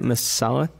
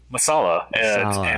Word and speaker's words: masala: love that i love what how do you pronounce it again masala masala m-a-s-a-l-a yeah you might have heard of like